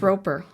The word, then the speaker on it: Rober: I guess robber, like robbing a bank, right? Well, you said P and B. Rober or robber?